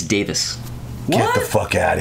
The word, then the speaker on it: Davies: It's not Davies? It's Davis. What? Get the fuck out of here. That's how you pronounce that. Everybody in the U.S. says Davies, but we're all saying it wrong.